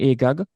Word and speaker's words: Agag: spared, he was actually King Agag or Agag, depending on how you pronounce, and he was Yes.